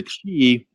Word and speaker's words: Qi: energy yeah yeah so the key which a lot of people actually spell Qi yeah and then gong